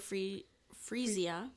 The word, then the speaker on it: Freesia: But I say Freesia because we grow this and I still call it Freesia, but it's pronounced Freesia. Freesia.